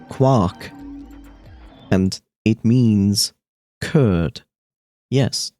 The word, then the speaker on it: Quark: Quark is also a German word, which is pronounced Quark.